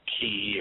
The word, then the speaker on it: chi: that is conducive to chi production, chi production. Some people pronounce it ki, or I don't care. Chi looks like chi to me, so that's what it is to me.